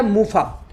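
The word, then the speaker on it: MUFA: और तीसरा है मूफा, मोनो अनसैचुरेटेड फैटी एसिड। थोड़ा सा नाम टफ है, प्रोनाउंसिएशन अलग अलग सब लोग कर पाएंगे, टेंशन भूल जाना।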